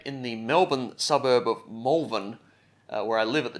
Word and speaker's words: Malvern: I found the tape in the Melbourne suburb of Malvern, where I live at the time I recorded this, not to be confused with the Adelaide suburb that shares the same spelling, but is pronounced Malvern. Which is weird, because you'd